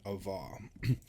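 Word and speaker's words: אָבָה: always got these confused Ava has the sound before the the hey ahav has the sound at the end of the words okay and so love the V sound in love is at the end of the word in Ava the V sound is earlier I think of like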